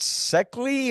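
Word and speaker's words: Szekely: Is it Seckley or You know what? It's pronounced Zeke. Zeke? Okay. Yes, it's a Hungarian. Her late husband, uh, whom they called the professor, was from Hungary.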